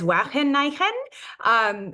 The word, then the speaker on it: Wageningen: we're being recorded, and I'm going to try my best to pronounce this as a Dutch person would.